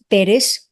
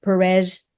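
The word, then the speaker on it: Pérez: It's Perez, not Perez.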